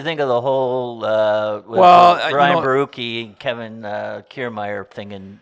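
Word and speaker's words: Borucki: So, what did you think of the whole Ryan Barucki and Kevin Kiermaier thing in Tampa?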